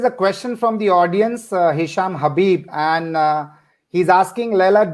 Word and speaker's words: Hisham: Hisham, that's how I pronounce the name? Yeah, Hisham, that's right.